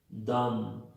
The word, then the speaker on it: dumb: La 61, AMB, IMB, OMB, UMB, la B es muda. Entonces se pronuncian así. Lamb, no hay B ahí. Climb, no hay B. Dumb, no hay B.